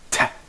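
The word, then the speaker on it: تاء: It's pronounced like a clear frontal English Ta, but unlike Ta in English, no aspiration in pronouncing it.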